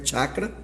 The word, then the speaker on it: chakra: chamados entre os místicos de chakra que a pronúncia correta em sânsito é chacra e que nós o